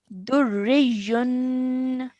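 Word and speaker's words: دُرِّيٌّ: Durriyun. Durriyun. Well done. And in pausing, it would be durrij. Durrij. Okay, slight y sound at the end.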